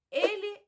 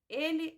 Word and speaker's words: ele: Ele é muito bonito. Ele é muito bonito. Nós não pronunciamos ele, nós falamos ele. E não pronunciamos bonito, nós pronunciamos bonito.